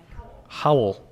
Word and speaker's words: Hoel: Miss Rachel Hoel. Hopefully I pronounced that right. If you wouldn't mind stepping forward. Did I pronounce that right, Rachel? Howl. Kind of like on Happy Days, the Howls.